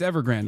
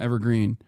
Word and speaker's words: Evergrande: Or Ever, is it Evergreen? Evergrande, isn't it? I keep fucking up the name of the goddamn real estate company. Yeah, no, it's Evergrande. I said it right. It's not Evergreen.